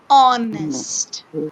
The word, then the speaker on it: honest: sound in the sound in this word the letter h is silent we don't have sound that's why the sound is oh honest okay so we have